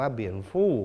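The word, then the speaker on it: 蝙蝠: ว่า ค้างคาว นะ ครับ ภาษา จีน กลาง นะ ครับ อ่าน ว่า เบียน ฟู่ ภาษา จีน ฮกเกี้ยน อ่าน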